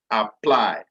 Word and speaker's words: apply: If the second syllable of the verb contains a long vowel or a diphthong, or if it ends with more than 1 consonant, then the second syllable is stressed.